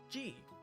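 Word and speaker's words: ジ: It's not a Z syllable. It's the exception in this set. So remember it well. It's pronounce it as G, like in the name Jeeves, or Jeez, man, or Jesus. Jesus is another good one.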